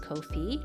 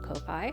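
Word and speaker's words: Ko-fi: to my Kofi supporters apparently that's how it's pronounced Kofi not Kopi a big thank you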